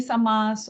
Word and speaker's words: samāsa: Samosa by the way it is not samasa okay it is samas and that is another thing we have to learn to pronounce our us to be very short yeah and the as to be long okay so it's V